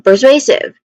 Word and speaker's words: persuasive: it comes to pronunciation we start with purr which has a short unstressed weak vowel e vowel sound. So that's purr and then and then followed by sway. This is the stressed syllable in the word.